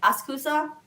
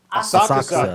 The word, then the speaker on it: Asakusa: So this is being sold at a pop-up shop in I can never say it right. Asakusa. Asakusa. Don't listen to Rich Asakusa. Iso. Rich Iso says it wrong.